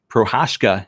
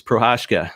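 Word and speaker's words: Procházka: Reyes versus, and I've got his name, Prochazka is how you pronounce it. It's Prochazka. But I went and figured out how to pronounce it earlier. It's Prochazka.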